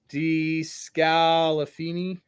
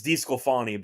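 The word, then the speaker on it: DeSclafani: I don't think I've ever heard him pronounced that way, by the way. DeScalafani? DeScalafani? I don't know. DeScalafani? Yeah. What is it? I've always hated that guy as a pitcher. I thought he sucked. He was on The He was on Giants. the Giants. He was on Cincinnati for a bit. I never thought he was good, but I don't know what that pronunciation was, to be honest.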